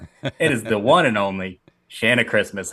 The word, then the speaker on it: Shanna: I worked with a girl who pronounced it Shanna. So that's why I immediately pronounced it Shanna. But it's Shanna. Shanna Christmas. Yeah. Get it right.